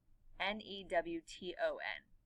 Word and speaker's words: Newton: And Newton is spelled N-E-W-T-O-W-N. But when I'm sorry, there's no W. N-E-W-T-O-N. But when I say it, Newton, you don't hear that T.